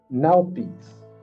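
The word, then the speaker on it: Nauthiz: Oh, North Nalpies. That's what that's how it's pronounced.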